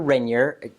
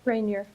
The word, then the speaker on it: Rainier: am here with amber renyer oh my god your name's amber renyer right rainier rainier okay whatever however i want to